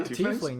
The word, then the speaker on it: tiefling: Like I don't know if I'm pronouncing it right. Tiefling. Yeah, Tiefling, yes.